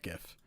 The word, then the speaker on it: GIF: It is pronounced GIF, and you will never convince me otherwise.